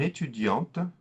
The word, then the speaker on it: étudiante: étudiant will become une étudiante, une étudiante. In the feminine, we add the E, and then the T is no longer silent.